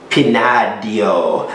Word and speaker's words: Pinadillo: this is a amonte pinadio so the ells are silent in spain and i'm not spanish